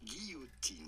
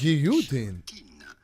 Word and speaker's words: guillotine: So In French, it is pronounced guillotine. In French. Guillotine. But in English, it is usually pronounced guillotine.